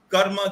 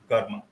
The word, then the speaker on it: karma: to see this word Karma there in the background in Hindi we call it Karm in English it's you know just the a get added because of the pronunciation Karma so help us understand